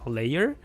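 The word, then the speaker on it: LAER: Layer. It's like laser but without the S.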